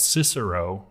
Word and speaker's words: Cicero: of course it's right he said his name was Kiki at all or something oh wow okay that's how the the Latin was pronounced at that point but